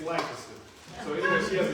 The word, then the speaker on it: Lancaster: A friend of mine owns a sandwich shop out in Lancaster, however you want to pronounce it. I'm from Dallas, so it's south of the Trinity, it's Lancaster.